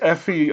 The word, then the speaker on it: Aoife: Her name is Effie O'Donovan. It's spelled Aoife O'Donovan, and some of you may or may not have heard her.